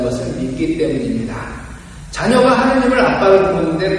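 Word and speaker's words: אבא: 아빠. 이제 우리말의 아빠하고 히브리 아빠, 아람어의 아빠가 같아요. 그 발음이. 겟세마니 동산에서 간절히 기도하실 때도 아빠, 아버지를 부르셨어요.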